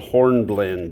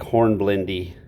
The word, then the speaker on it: hornblende: Here's a dark, important mineral called hornblende. It looks like hornblendy when you spell it.